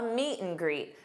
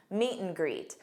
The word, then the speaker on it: meet and greet: A meet and greet. Notice how I pronounced an. When you have an between two nouns or two verbs, you can pronounce it just as m. Meet and greet.